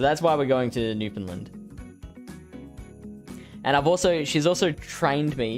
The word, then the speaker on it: Newfoundland: Lily Bear has a very good friend that lives there, so that's why we're going to Newfoundland. And she's also trained me. She's instructed me to pronounce it Newfoundland.